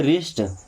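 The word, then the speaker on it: wrist: वृष्ट ने क्या पढ़ते हैं? रिस्ट।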